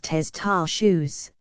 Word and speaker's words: testaceous: It is pronounced testaceous, comes from the Latin